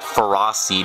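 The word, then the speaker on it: Ferroseed: here were absolutely adorable in the anime they actually pronounce that feros seed but I like pronouncing it feris seed anyway Let's Just Surf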